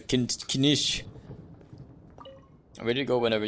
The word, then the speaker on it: Kinich: Kinich. Yeah, it's a kinish.